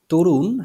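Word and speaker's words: Tarun: নাম্বারে দেখেন লেখা আছে তরুণ হ্যাজ এটা ইংলিশে স্পেলিংটা টি এ আর ইউ এন সো আমরা এখানে প্রোনাউন্স করতে পারি তারুণ নো প্রবলেম যেকোনো একটা বললেই হলো তরুণ হ্যাজ মুভ টু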